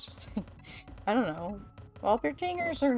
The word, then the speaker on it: Walpertinger: It's German. I thought it was German. Hold on. Yeah, it's a W. It's not a, it's a W sound, not a V sound.